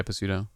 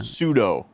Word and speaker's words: pseudo: that or Pudo yeah Pudo wait Puro no Pudo you're talking s p s u e d o pseudo oh yeah that not Pudo the p is silent am I saying it